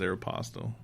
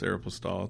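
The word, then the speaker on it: Aéropostale: The most common misenunciation of it is Aeropostale. Okay. Yeah, but it's Aeropostale. It's a French term.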